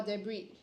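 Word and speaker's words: debris: r i s okay so it's actually a silent s to read de okay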